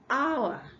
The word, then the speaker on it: hour: The H here is silent. It's not honest. Okay, so it's honest. We have R. hour, hour.